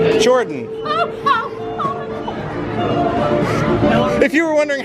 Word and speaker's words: Jordan: Can you pronounce your name? Your first name? Jordan. If you were wondering how to pronounce my name, it's Jordan.